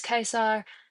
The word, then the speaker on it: Caesar: um t were hard and so there are other funny like pronunciation facts like Julius Caesar would have been Julius Kaisar this would have been